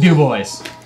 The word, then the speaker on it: Dubois: Of course, it was named after a French trapper named Dubois, but because Wyoming is Wyoming, it's pronounced Dubois.